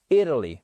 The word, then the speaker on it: Italy: Italy, ok? Travel, Italy. Accentuation sur la première syllabe à chaque fois.